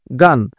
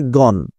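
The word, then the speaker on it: gone: এর সাথে ব্যালেন্স করে এবং এখানে গো ওয়েন্ট গান যেটাকে আমরা গান বলি এটার উচ্চারণটা আসলে গন তাই না এটার উচ্চারণটা কিন্তু আসলে আমি আপনাদের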